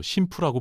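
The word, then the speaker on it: 神風: 다미카제라는 이름은 13세기 몽골 침략 때 일본을 구했다는 신의 바람에서 따왔는데 정자 일본군은 이걸 음독으로 심푸라고 불렀죠. 가미카제라는 발음은 미국 언론이 잘못 읽은 거였는데 오히려 그게 전 세계에 퍼졌습니다.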